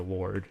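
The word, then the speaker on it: Lorde: How do you say it? Lord? It's just Lord.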